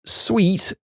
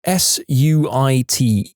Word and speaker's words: suite: haven't been clear that it's sweet s ui t e. She responds with this incredulous yet delighted laugh that goes on for what seemed like 5 minutes. Dear, that word you just spelled isn't pronounced sweet. She said like she was talking to a 5-year-old that had just failed kindergarten. It's pronounced suit.